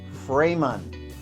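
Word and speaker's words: Framon: Supply Amazon framan manufacturing so it's framan I got to get this right sometimes when you pronounce things wrong it doesn't work out too good for you so let's see it's f r a m o n f r a m o n frayman that's two names built together go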